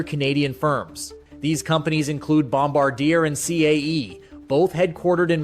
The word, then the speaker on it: Bombardier: All right, the guys can't seem to pronounce things very well. It's Griffin and it's Bombardier.